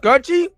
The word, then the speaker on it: Kouchie: It's pronounced Coochie. That's Cooch. Coochie. It's spelled Kouchie. Sound like Coochie to me.